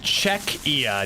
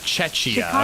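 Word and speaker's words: Czechia: By the way, it's pronounced Czecha, not Chetchia.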